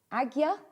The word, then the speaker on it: Ajna: is also called the Ajna chakra, the center of perception, conscientiousness, and intuition. So this is It's brilliant, isn't it? I think it's actually pronounced Agya chakra. I hope I'm getting that right.